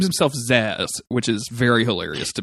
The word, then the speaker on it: Zzax: Yeah, where Banner says Zaz, he goes, no, it's Zaz.